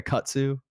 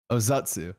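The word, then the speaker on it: Ozutsu: It's like a Akatsu. I don't know if that's right. Ozatsu. There we go. I was close.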